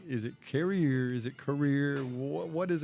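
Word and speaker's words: Carriere: once and for all how do I pronounce carrier did I get it right career career just career like career like c a r e e r that's close enough we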